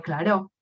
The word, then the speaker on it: Clairaut: Se escribe Clairaut, pero se dice teorema de Clairaut, que justamente dice esto.